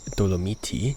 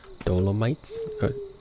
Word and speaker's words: Dolomiti: So I do say doomiti just because that is the actual pronunciation for the um for for the word um in case you didn't know right because in English we say dolommites we say dolommites right